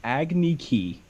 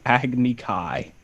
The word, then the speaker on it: Agni Kai: He said Agni Ki, and it should be Agni Kai.